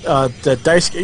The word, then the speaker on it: Daisuke: However, I do know that Major League player Daisuke Matsuzaka spells his name that way, and it is pronounced Daisuke, so that's what I'm going with.